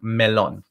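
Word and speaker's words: melón: seeing the accent mark melon same with this next one oh we're moving it right to the last vowel i'm telling you because you wouldn't know and you're drawing that little accent mark from tangerine is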